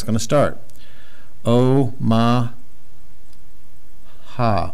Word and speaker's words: Omaha: O, ma, ha, Omaha.